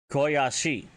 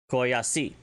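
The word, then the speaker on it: k'oyacyi: cheers than just Oya is going to be Koyashi. And that is spelled K, beten, O-Y-A-C-I. I'm sorry, let me try that again. Koyashi.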